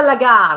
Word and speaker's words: lagar: Okay, so this is how do you pronounce it? This is a lagar.